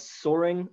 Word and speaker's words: Soarin: So Instagram is Soarin Music, and it's spelled Soaring without the G, Soarin.